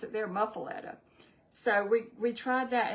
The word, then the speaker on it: muffuletta: Cuz I've heard it both ways and they pronounce it there muffuletta.